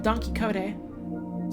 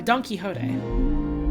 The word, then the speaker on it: Don Quixote: anyhow this one from donkey kode sorry Don Quixote I always pronounced that wrong first couple times uh I wanted to